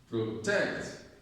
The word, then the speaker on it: protect: Protect, protect, protect, protect. Okay? So we say protect. Okay? Protect. We don't say protect. Protect. So the stress is on tech.